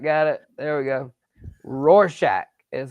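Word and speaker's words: Rorschach: Roarshack is how I pronounce it.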